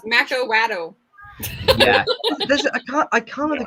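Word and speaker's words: macuahuitl: Of course, somebody's going to come up and tell me that I'm pronouncing it wrong because lots of people seem. Yeah, it's Macawaddle.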